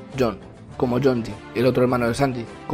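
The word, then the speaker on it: 四: Y el número cuatro se pronuncia Jon, como Jonji, el otro hermano de Sanji.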